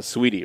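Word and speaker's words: Saweetie: sorry everybody but uh sweetie right yeah sweetie nice it's just but it's spelled like saw wheatie yeah right she's from the south they can't spell sweetie okay just sweetie nobody's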